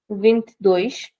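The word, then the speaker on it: vinte: In European Portuguese, we say vintish.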